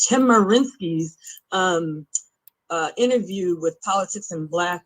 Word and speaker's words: Chemerinsky: I sent you all a very lengthy email with which transcribed Dean Erwin Cherminsky, I always say his name wrong, Chemerinsky's interview with Politics in Black with me and Chad Brown.